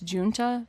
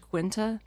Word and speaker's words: Guenta: I pronounced John Guenta's last name as Junta based on what the internet told me, but I've since heard from listeners that in New Jersey it's more commonly pronounced Quinta.